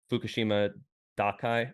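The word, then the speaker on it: Fukushima Daiichi: shut down, except for Fukushima Dakai, I think is how it's pronounced, which is the one that we just call Fukushima.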